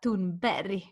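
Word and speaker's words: Thunberg: pretty good job but the official way to say is Greta tune Barry so not hard G at the end by the soft G and I was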